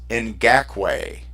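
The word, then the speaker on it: Ngakoue: show Ross but I actually found out how to say his last name it's in GAC way Oh neither one of us did and they broke it down on the NFL Network and I and they actually broke her down phonetically so I wrote it down and I brought it up last week but so it's Yannick and GAC way and I'll tell you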